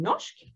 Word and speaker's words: norsk: Snakker du norsk? Ihr seht, bei norsk ist das R und das S in meiner Aussprache zusammengezogen zu einem Sch.